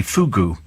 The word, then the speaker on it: fugu: I would never question your wisdom, Steve, for I'm but a mere regular spiker, but it's pronounced phonetically fugu.